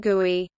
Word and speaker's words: GUI: The visible graphical interface features of an application are sometimes referred to as CHROME or GUI, pronounced GUI.